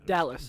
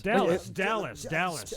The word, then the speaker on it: Dallas: Dallas. Dallas. Yeah, like Texas. It's spelled the same way too.